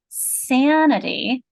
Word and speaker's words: sanity: You're noticing a sane, a long A here, aren't you, Tina? I heard what you had, and then here, sanity. You hear a short A, don't you?